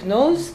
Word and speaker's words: knows: She knows me. В этом слове, да, K передано не читается. Вообще в английском языке вот это сочетание пишут K, но и не читает ее.